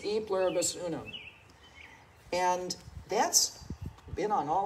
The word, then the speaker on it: E pluribus unum: and the word unum am i pronouncing that right um i think it's e pluribus unum and that's been on